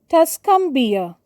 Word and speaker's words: Tuscumbia: she was the first deaf blind person to get a bachelor's degree both capital in test cumbia t capital and we pronounce it as Tuscumbia Alabama a capital as again it's the name